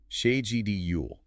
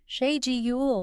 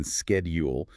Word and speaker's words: schedule: The source adhering strictly to the British standard demands the she sound at the beginning. Sha gule. She gle. This is the non-negotiable differentiator from the widespread American schedule.